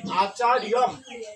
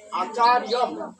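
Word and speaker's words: আচার্যম্: তাহলে উচ্চারণ হবে আচার্যম, আচার্যম। কি উচ্চারণ করবো? আচার্যম।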